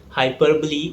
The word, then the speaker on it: hyperbole: Hyperbole is similar to exaggeration, ati katni. The correct pronunciation is hyperbole.